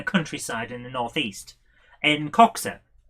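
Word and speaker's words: Coxhoe: in the northeast in coxa it's spelled c-o-x-h-o-e cox hoe but uh we all call it coxa because the noe and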